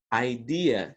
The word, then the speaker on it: idea: Mas toma cuidado, a pronúncia é um pouco diferente. Idea que se fala, idea.